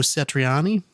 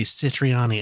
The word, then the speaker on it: Satriani: sun bucket head joe satriani i can never pronounce his last name sach Satriani huh I always say citrine ah me and I don't know